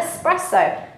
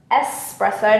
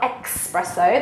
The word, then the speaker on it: espresso: And of course, you could also order an espresso. Espresso, not espresso, like many of the English people pronounce incorrectly.